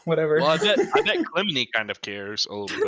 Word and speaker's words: Clymene: I will say the pronunciation I'm using, I literally just Googled the Greek pronunciation because it's just a Greek name. Okay. I think it's Clemeni.